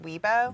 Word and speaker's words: Weibo: pronounced Weibo.